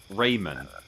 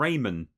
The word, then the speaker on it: Rayman: to be pronouncing it Raymond like it is just it's like he's called Raymond but they've just taken the d off the end um right so there